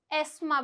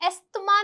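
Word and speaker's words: asthma: इसमें जो TH है वो क्या है? साइलेंट है, तो ये क्या बनेगा? एस्मा बनेगा।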